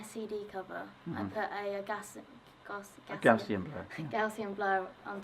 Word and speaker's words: Gaussian: Yeah, with my CD cover, I put a Gaussian blur. Yeah. Gaussian blur on top of it because I've heard it pronounced all sorts of different ways. I've heard it pronounced Gaussian, Gaussian. Yeah, it's Gaussian blur, Gaussian.